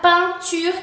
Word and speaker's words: peinture: Después tenemos EIN, que también se pronuncia A. Por ejemplo, la palabra peinture, que es pintura, peinture.